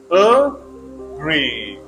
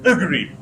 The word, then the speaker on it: agree: and more challenging if a word has two syllables like agree you have two choices a gree you can put stress either on first syllable